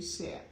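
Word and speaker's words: shea: then I bought some she butter how do you say that she butter she butter some people say she some people say share whatever you call it B this cuz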